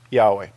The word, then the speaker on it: Yahweh: The name is commonly pronounced Yahweh.